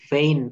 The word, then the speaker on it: feign: অর্থাৎ এখানে আমার রুল কি বলছে, রুল 5 বলছে অর্ডের শেষে জিএন থাকলে, অর্ডের শেষে সবগুলাই দেখেন জিএন আছে, জিএন থাকলে তার উচ্চারণ আইন হয়। এক্ষেত্রে জি অনুচ্চারিত থাকে, যেমন ডিজাইন, রিজাইন, জি, তারপরে রেইন, ফেইন, অর্থাৎ এই শব্দগুলো শব্দ শেষে জিএন থাকলে তার উচ্চারণ আইন হয়ে যায়।